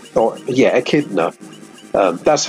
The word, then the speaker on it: echidna: I'm gonna call it echidna oh yeah a kid enough that's how I've always pronounced it like Knuckles the Echidna I've always pronounced it